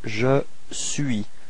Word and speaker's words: je suis: So first form for je, it's je suis. So you can notice that the final S is not pronounced.